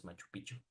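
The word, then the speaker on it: Machu Picchu: piku yeah Peru exactly some people mispronounce it Machu no it's Machu piku is Machu piku piku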